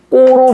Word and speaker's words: 입고: 그래서 파열름 뒤에 그드브스즈가 오게 되니까 얘는 최종적으로 어떻게 바음된다?이 입꼬로 발음된다라는 걸 기억하셔야 돼요. 입꼬 입고로 바릅니다.